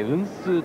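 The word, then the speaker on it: 雲手: 雲の手と書いて運数と読みます。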